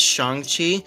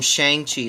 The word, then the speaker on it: Shang-Chi: I know my last Shang-Chi video, that was before the movie came out, and so I didn't know it was pronounced Shang-Chi, and I called him Shang-Chi the whole time.